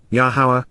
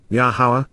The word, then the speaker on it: Yahowah: Yahawah, Yahawah, the proper pronunciation of Yahowah, our Eloah, God, as